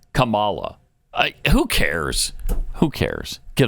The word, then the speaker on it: Kamala: and what is it's Kamala is that how normally used to say Kamala it's Kamala it's Kamala not Kamala not Kamala Kamala Kamala